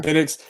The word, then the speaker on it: Penix: Penix.